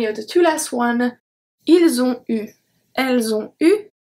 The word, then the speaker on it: ils ont eu: Ils ont eu. Elles ont eu. The T are not pronounced, and then we have a link between each. So, ils ont eu, elles ont eu.